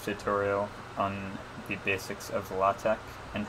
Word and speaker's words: LaTeX: LaTeX is spelled like latex, but with the consonants capitalized like so, and of course it's pronounced LaTeX.